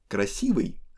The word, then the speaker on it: красивый: Красивый does not have stress at the end, and letter V that we have in front of the ending is hard.